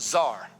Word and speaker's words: Tsar: Prince in Hebrew is the word Tsar, pronounced Czar.